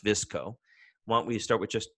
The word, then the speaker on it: VSCO: familiar with the company it's vs co but it's pronounced visco won't we start with